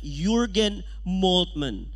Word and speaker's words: Jürgen Moltmann: Okay, Jürgen, J na sa diha, pero ang pag-pronounce diya na Jürgen Moltmann.